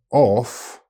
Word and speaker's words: of: Now let's take a look at two little words that non-native speakers usually pronounce the same way, and that is with an F sound. However, only one of them has a F sound. Off and of. One has a strong F sound and the other has a strong V sound.